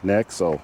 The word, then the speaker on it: Nexo: is a hondai a nexo nexo right that's how you pronounce that nexo nexo fuel cell